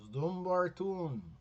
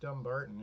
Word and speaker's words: Dumbarton: thought maybe it's pronounced dumbarton but no it's just dumb barton it's our it's our